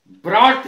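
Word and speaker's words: brought: ब्रॉट शब्द में भी ऐसा होता है लाया।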